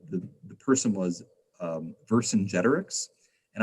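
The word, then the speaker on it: Vercingetorix: the person was um verse in generics and i have been pronouncing it wrong my entire life until one of my students corrected me i had been pronouncing it for sinja torix that's wrong so i learned something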